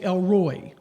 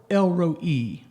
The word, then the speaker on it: El Roi: Some say Elroy. There's a name. Maybe you know somebody named Elroy. Or El Roi.